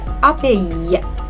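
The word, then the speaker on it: abeille: تالت كلمة كانت كلمة أبي. أبي، عايزة المقطع الأخير تشدوه شوية. ي. أبي، نحلة.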